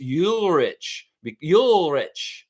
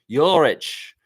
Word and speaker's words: Ulrich: Cool Cat's saying it's pronounced Ulrich. Ulrich. Yeah, I mean, that's what they were saying over there, Coach Joe. So, yeah, Ulrich.